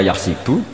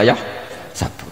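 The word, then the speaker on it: يحسب: Karena dalam qiraat sab'ah ada yang baca yahsibu, qiraat kita baca yahsabu. Tapi guru-guru kita kalau ngajar fikih itu bacanya yahsibu. Tapi kalau baca Quran yahsabu. Ya kan Quran kita kan ayah sabu Allah yaqdiru alaihi ahad, bukan dibaca ayah sibu.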